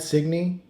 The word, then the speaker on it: Signy: I say do I say your name right signy cigarette and me but are are you are